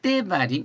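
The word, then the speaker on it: דברים: 말씀들이 말씀들이 대발 이이에요 제가 대발 이라고 썼지만 실제적인 발음 보면은 약간 때 바림 이렇게나요이 말씀들은 these are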